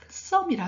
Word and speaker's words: Psalm: 영어 시편 우리가 시편을 영어로 썸이라 하거든요. 즉 여러분 보면 PSALM 돼 있죠. 근데 P 발음은 안 합니다.